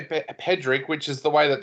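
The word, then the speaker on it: Pádraic: But I know a couple of other Irish people that have actually looked at that and said that it's said as Patrick. As in Patrick with a D.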